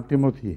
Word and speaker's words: Timothy: وہ بعد میں تحقیق کی تو پتہ چلا وہ اردو تلفظ تھا اس کا، اصل نام تیموتھی ہے.